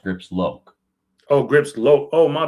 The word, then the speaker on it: Grips Lock: Talk to me about Grips Lock. I believe it's pronounced Grips Loke.